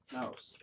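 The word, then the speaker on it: Naos: Naus, yes. This tower itself is about If that's 400... your pronounced noose. N-A-O-S. Naus.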